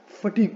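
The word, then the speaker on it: fatigue: में the mistake that people make is they put too much stress on the first syllable, और इसको बोलते हैं फैटिग. फैटिग is incorrect. Okay, सो आप इसको फैटिग मत बोलो. It should be pronounced as फटीग. Okay, it इज नॉट the first but the second syllable that gets the stress.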